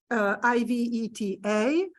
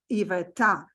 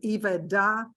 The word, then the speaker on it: Iveta: So I give you example on my first name, Iveta, but if I spell my name Yvetta, I'm sure you will say my name correctly, Iveta, not Iveda or Iveda, and that way.